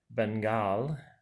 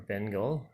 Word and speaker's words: Bengal: 10 issues, is the French legendary artist Bengal, or Bengal, however you want to say it. I'm soon giving it a little French accent there. Bengal, and it's spelled just like the tiger, Bengal.